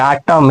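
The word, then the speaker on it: autumn: जैसे एटम यानी कि एम के बाद एन आ गया तो एन साइलेंट हो जाएगा।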